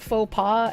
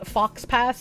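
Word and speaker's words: faux pas: there you know uh pronounced faux PA as fox pass for years I thought I was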